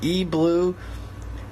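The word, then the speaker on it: E-3lue: E well I guess you pronounce it blue even though it's a stylus B it's actually 3 l e FL no no but the E blue Cobra Pro gaming mouse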